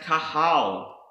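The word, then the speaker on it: קָהָל: Another word that starts with the letter Qoph is pronounced kahal, and this means to assemble, gather, the congregation, convocation.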